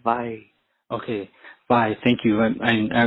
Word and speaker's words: wai: But the W in Hawaiian in this context is like a V, so we'd say vai.